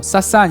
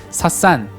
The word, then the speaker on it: 사산: 페르시아를 사스한 조페르시아라고 합니다 우리 흔히 사산이라고 써 있는데 이런 우리말하고 헷갈리잖아요 영어 발음이나 페르시아식 발음도 싸싼 이렇게 발음하는 경우가 많아서 우리 키피스 계사에서는 표기는 어쩔 수 없다 치더라도 발음 자체는 사산 페르시아라고 하겠습니다 이런 식으로 중국 역사와